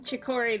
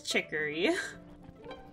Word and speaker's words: Chicory: new wielder chicory i've been saying chikori this whole time but the proper pronunciation is chicory also hello the vista